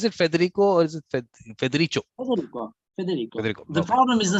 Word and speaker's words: Federico: I'm just thinking that, do I pronounce it correctly? Is it Federico or is it Federico?